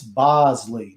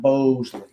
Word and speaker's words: Bosley: but since it's not it's b o s l it's bosley not boseley oh my goodness gracious